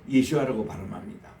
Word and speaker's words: 예수아: 그래서 오늘 또 우리 메시아닉 주들은 예수님을 예수아라고 발음합니다. 본래 이브리 발음이에요. 이 예수아, 이 집안의 그 여다야 자손이 973명이요.